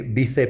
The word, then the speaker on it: vice: for the presidency is actually right now the bise president Segunda the second vice president whatever that